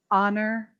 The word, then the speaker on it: honor: is silent our air honor those are the words that have a silent h those are the words that come from french that's why they have